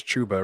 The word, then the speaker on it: Chuba: gainwell for chubba chuba i think i started saying it wrong on the last show it's chuba right um i thought it was chubby but whatever let's just